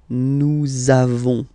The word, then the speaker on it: nous avons: the lesson, for être, you make this link between the two, so nous avons, okay, nous avons, that's it.